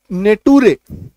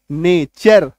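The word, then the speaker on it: nature: फ्यूचर नेचर है ना इसको कई लोग को मैंने सुना है कि एन ए टी यू आरई लोग क्या पढ़ते नेटुरे टूरे है ना इसका उच्चारण क्या करते हैं नेट रे फूटूरे ठीक है तो नेटुरे फूटूरे आपको नहीं कहना क्या कहना है नेचर फ्यूचर क्यों क्योंकि टी यू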